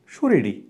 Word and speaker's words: শরীরী: মনে রাখবে উচ্চারণে দীর্ঘইকার সবসময় কি হয়ে যাবে? রস্বইকার হয়ে যাবে। তাহলে কি হবে? এই শরীরী কি হবে? তাহলে সৌকার, র রস্বইকার, র রস্বইকার, শরীরী, এমনটা হবে।